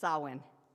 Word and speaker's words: Samhain: celtic holiday of uh i can never pronounce this sowwin yeah don't speak gaelic